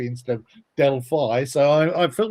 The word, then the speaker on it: Delphi: So I've helped everybody pronounce the word Delphi as Delphi instead of Delphi.